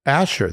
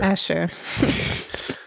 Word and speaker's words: Asshur: Asshur. A lot of Asshurs going around. It's the Greeks who couldn't pronounce it right and ended up calling it Assyria, as they screwed up everybody else's names.